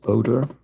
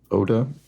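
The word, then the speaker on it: oder: think that's probably correct German or is odor Oda odor depends how how germanically you want to pronounce it I guess how whether you sort of say the r or not but it is certainly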